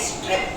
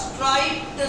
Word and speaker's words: striped: तो ये स्ट्रिप्ड नहीं होगा, स्ट्राइप्ड suit, STRIPED, स्ट्राइप्ड suit.